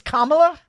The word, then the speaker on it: Kamala: asking him is it Kamala or Kamala I still don't know so what is it Sean what is it in that case Kamala come oh okay he's the one giving me advice and he he went both ways he said both names it's Kamala that's it and you're sure